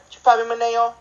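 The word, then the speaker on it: Chupapi Muñaño: It's like an oi sound at the end, because, like, I read it as me, ne, oi. It's like, chupapi maneo.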